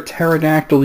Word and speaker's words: pterodactyl: can't you hear a pterodactyl using the bathroom because the P is silent come on number sip